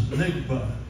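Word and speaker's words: NGBA: Next Generation business aircraft and that pronounces nigba now if you say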